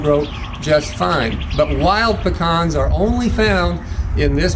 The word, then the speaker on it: pecan: It's the Algonquin Native American language, pecan. It's spelled a little bit differently, but we kept